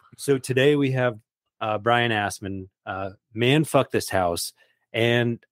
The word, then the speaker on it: Asman: It's Brian Asman. Brian? Yeah, so you're actually supposed to yell it as well, so it's more like that would be the proper pronunciation.